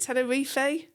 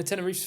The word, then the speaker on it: Tenerife: Is it Tenerifey? No, Tenerife's fine. I mean, it's you know, the anglicized pronunciation.